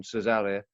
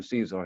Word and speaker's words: Cezary: And I pronounce it in the Polish pronunciation, Cezary. But most people just call him Caesar here because they can't get the pronunciation right.